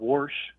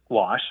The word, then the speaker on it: wash: you talk about vows I think about warsh I hear people talking about you know woring things that's not what I say it's wash but yeah yeah most